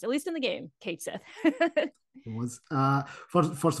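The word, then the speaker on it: Cait Sith: at me folks squarex confirmed that it is pronounced at least in the game K Sith it was uh first first of all thank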